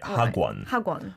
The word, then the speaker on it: 학원: I used to think you spelt it ha and then kwon because we say it like that, but it's spelt hak. Right? Whenever there's a last consonant in the first syllable and the second syllable starts with the iung, then this happens all the time.